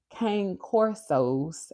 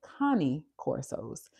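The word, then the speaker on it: Cane Corso: Um Michelle K told us that you do not pronounce Kang Corsos as such. They are Connie Corsos.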